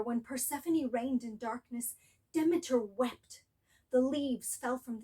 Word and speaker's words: Demeter: on where you live, there are different ways to pronounce Demeter. She can also be called Demeter or even Demeter.